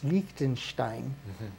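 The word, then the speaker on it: Liechtenstein: Switzerland but lonstein only got to say it right it's lonstein and um those guys U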